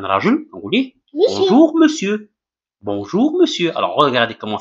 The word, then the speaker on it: monsieur: Et là, quand on rajoute, on vous dit bonjour, monsieur. Bonjour, monsieur. Alors, regardez comment ça s'écrit. Ça s'écrit monsieur, mais ça se prononce monsieur.